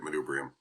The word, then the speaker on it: manubrium: man man manubrium man manubrium yeah that's actually the right way to say it manubrium beautiful do you know